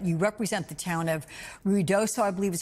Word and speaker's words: Ruidoso: But you represent the town of Ruidoso, I believe is how you say it, that's been battered by the flash floods this week.